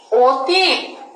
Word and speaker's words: অতীত: কোনো একটি বর্ণ থাকে, তাহলে প্রথম অয়ের উচ্চারণটি ওয়ের মতন হবে।